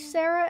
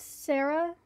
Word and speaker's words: Sara: i gotta wait again her name is pronounced sarah not english oh like i i